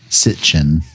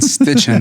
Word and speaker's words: Sitchin: like to point out it's uh sit chin sitchin sorry i i i've been saying stitching for like the longest time yeah no dude it's like bitching but not as cool yeah and uh just